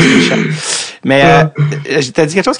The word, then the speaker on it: Mysak: Parce que c'était Yann Michak, mais finalement, ça se prononce Michak.